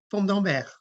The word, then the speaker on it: Fourme d'Ambert: I don't think we have it linked to the presentation, but it says something like Fourme d'Ambert, Fourme d'Ambert.